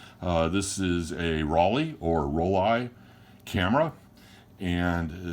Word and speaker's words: Rollei: is a Rollei or Rollei camera. And it's pronounced, I've always said Rollei. I've heard people call it Rollei, like R-O-L-L-E-Y-E. Rollei. I always say Rollei.